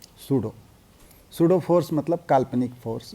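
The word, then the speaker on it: pseudo: सूडो का spelling भी थोड़ा अजीब है, सूडो, सूडो फोर्स मतलब काल्पनिक force, imaginary force, virtual force, जो कहना है कहिए।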